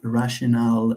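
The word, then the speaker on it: rationale: should have e at the end and it's pronounced rational it means justification okay justification rational okay so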